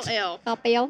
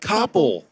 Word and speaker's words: Coppell: Oh, that's how you say it? Coppell. I thought it was like Koppel. Nope.